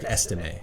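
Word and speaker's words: Estimé: How do you say his Audric Estime.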